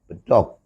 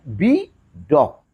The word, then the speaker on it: bedog: Bedog itu terdiri dari dua kata. Yang pertama kata-kata bi, yang kedua adalah kata dog. Kata bi, kemudian kata dog. Nah, kata ini diucapkan oleh orang Sunda, diucapkan oleh orang Indonesia, oleh orang Jawa Barat khususnya. Sehingga bukan bidog, tapi bedog. Ya. Tapi kalau dengan mengucapkan dengan bahasa Inggris, itu cara mengucapkannya bidog.